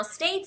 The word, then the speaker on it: States: a short a sound the word States uses a long a sound so we really enunciate that states that long sound States so we would